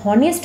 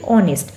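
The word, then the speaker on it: honest: আমরা যখন উচ্চারণ করি তখন কিন্তু আমরা এইচ কে উচ্চারণ করি না। আমরা হনেস্ট বলি না। আমরা বলি অনেস্ট।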